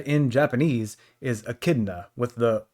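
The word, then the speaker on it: Echidna: on that, but I I'm just going to stick with Akidna, and all of the nicknames off of nicknames for her are going to be more based off of that pronunciation rather than with the O.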